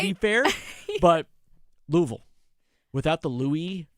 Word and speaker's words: Louisville: As they say, Louisville. Right. You got to Louisville. mush it together. It's Louisville. For the locals, it's Louisville.